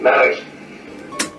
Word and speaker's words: Maurice: Come on, Let me hear you say it. Maurice.